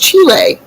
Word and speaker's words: Chile: And I said, Aunt Bob, it's pronounced Chile.